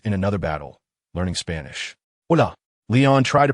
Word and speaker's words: hola: Hola. Leon tried to pronounce it with the correct tone, his face showing a hint of anticipation. No, it's OA.